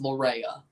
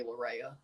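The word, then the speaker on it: Laryea: pronunciation of Richie Laura's last name his angiz pronunciation is Lura shot save by Matt Turner he's F being called either but people just do the easy part say laa so and Hell GTH wheeler just calls him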